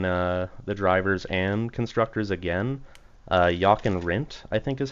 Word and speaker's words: Jochen Rindt: Jochen Rindt, I think is how you pronounce his name. Another Yep, Lotus Jochen Rindt.